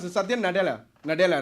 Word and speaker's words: Nadella: How do you pronounce it? Satya Nadella.